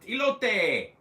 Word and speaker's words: Elote: So yes, you pronounced it correct that time. Great, excellent. Elote.